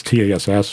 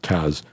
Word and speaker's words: TASS: tests tells a call it's Tass but they pronounce it Taz so that's a technical